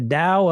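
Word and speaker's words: Tao: The Dow of Living at your goal weight. The Dao of Living at Your Goal Weight. T AO. And it's pronounced with a D, though, so yes, it is there.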